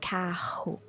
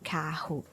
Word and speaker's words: carro: If it's in the middle of the word and it has two R's, like RR, double R, it's pronounced the same way. So like carro, it is the H sound, right? So carro is pronounced like that.